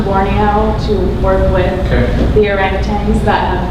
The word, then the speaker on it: orangutan: I have personal friends who have gone to Borneo to work with the orangutans it's actually pronounced orangutan. We've been pronouncing it wrong, but it's a kind of a struggle.